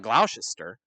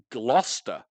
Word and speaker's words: Gloucester: it to the camera is it it's not Gloucester no it's Gloucester oh yeah of course